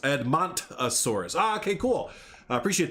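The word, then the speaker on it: Edmontosaurus: viewing uh outcrop viewing area there it's it's pronounced edmont asaurus ah okay cool i appreciate that first start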